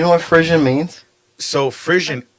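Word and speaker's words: frisson: what Frisian means so frissian it's actually it's a French word Frisian is a French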